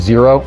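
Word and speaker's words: Xero: zero I personally use zero as well zero is spelled x e o in addition to the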